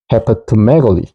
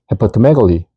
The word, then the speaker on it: hepatomegaly: 그래서 우리가 넣어주는 게 발음을 쉽게 하자 해서 결합형인 O를 중간에 넣어줍니다. 그래서 실제로 발음 기호를 통해서 발음을 해보면 hepatomegaly, hepatomegaly, hepatomegaly 이렇게 읽거든요.